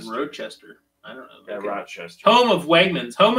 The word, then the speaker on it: Rochester: about a garbage plate how is it pronounced in New York roachester or rodchester what I say Rochester I don't know I'm asking some people say roachester some people say Rod but there's no D in it Rochester really I just